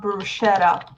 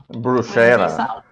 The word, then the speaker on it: bruschetta: may come viewers here when you pronounce the letter T in Italian don't make it a D it's not bruschetta bruschetta Bruce is Tommy British